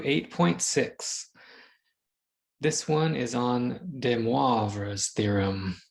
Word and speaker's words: de Moivre: This one is on de Moivre's theorem. I've been practicing that pronunciation. It's a French mathematician, de Moivre's theorem.